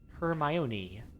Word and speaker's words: Hermione: I love it I just love it okay her my Oni I mean you know that the reason the